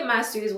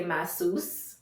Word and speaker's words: Massus: moved to the US, nobody really knew how to really pronounce it cuz they'll say masseuse and you know that's like you're getting a massage and they used to joke about that all the time.